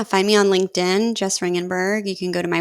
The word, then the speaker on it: Ringgenberg: awesome awesome well Jess Rittenberg ladies and gentlemen Jess thank you so much thanks for having me let me say your name again I said your name wrong um Jess ringenberg ladies and gentlemen Jess